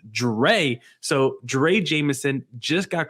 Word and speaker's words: Drey: name, for some reason, I want to say Drew, but I believe it's pronounced Drey.